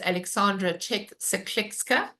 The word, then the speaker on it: Aleksandra Czech-Seklecka: My guest today is Alexandra Czech Clexka. And now she's going to tell me whether that is um pronounced correctly or not.